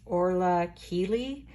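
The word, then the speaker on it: Orla Kiely: I think her name is pronounced Orla Keeley, but she has these like floral, very 70s mod type prints that she uses in her designs.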